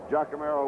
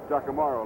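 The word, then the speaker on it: Giacomarro: out that means raft jamero will be kicking jamaro let me correct that pronunciation out of Pinn State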